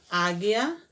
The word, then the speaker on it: águia: é um dígrafo consonantal quando a vogal u não é pronunciada como aqui em águia e formigueiro a mulher canal tá